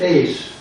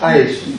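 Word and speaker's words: εἰς: You see, now, we pronounce it ace. See, the way the man said is ice. No, that's another way to pronounce it. We ace, ace. See, we go with different with a little bit on that book. It's ace, okay?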